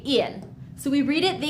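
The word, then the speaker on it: ils: Yes, I know that there's an s after il, but we still just say ill. So we read it the exact same way. ill and ill. We don't pronounce the s.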